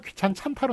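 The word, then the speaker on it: 귀찮잖다: 발음은 귀찮찬타로 나지만 히읗이 뒤로 넘어가기 때문에 축약이 돼가지고 귀찮찬타로 히읗과 지읒이 합쳐져가지고 찬으로 납니다만 치읒으로 납니다만 그렇지만 쓰는 거는 논리상 지안이 결합을 했기 때문에 잔이라고 써줘야겠습니다.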